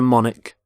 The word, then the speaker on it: monarch: and here is the monarch of the United Kingdom the current Queen so Monarch so the CH there makes the C Sound Monarch the start of the